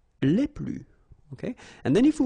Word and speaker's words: les plus: Okay, so keep in mind that I don't pronounce this final S here, so we get le plus, la plus, les plus.